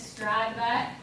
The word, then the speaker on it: Stradbeck: My last name is Stradbeck, with a silent T in the middle, so to be tricky.